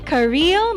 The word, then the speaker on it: Kareyl: But it's spelled Kareyl. But it's not in the spelling, it's the pronunciation, so it's Kareel.